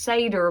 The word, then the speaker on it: Seder: It's pronounced Seder, but it's spelled S-E-D-E-R, and I never knew all my life I was mispronouncing that, but it was quite entertaining.